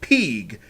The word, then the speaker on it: PG: No, that's the currency of the game, pronounced Peeg, although I think it's kind of like a abbreviation for pieces of gold or gil or whatever. They call it Peag, so that's going to be our currency.